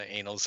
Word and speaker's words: annals: That's happened a few times in the annals of Marvel history. Hey. The annals? How do you pronounce that?